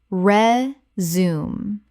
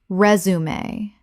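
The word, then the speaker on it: résumé: Common mispronunciation. Re-zoom. Correct pronunciation. Resume. Three syllables. The French accent marks mean both e's are pronounced.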